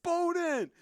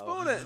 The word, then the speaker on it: Bowden: It's Bowden. It's Bowden.